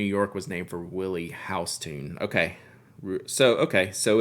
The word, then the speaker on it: Houston: the street New York was named for Willie house tune okay so okay so it's just like Regional based on whoever like that person's pronunciation was like I have no clue who